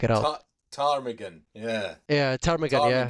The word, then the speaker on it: ptarmigan: I can never pronounce the name of the bird, like parmitsigan or something like that. Now I have to Ah, like check it out. ptarmigan. Yeah. Yeah, ptarmigan. Yeah, Ptarmigan with a silent P.